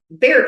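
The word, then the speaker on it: Bexar: So if I looked up Bear County, I was going to spell it be E A R. Is that not how you spell it? That is not how it's spelled. It has an X in there.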